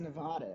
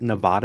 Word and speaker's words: Nevada: I need to be careful to correctly pronounce Nevada every time it comes up. Is it Nevada and not Nevada?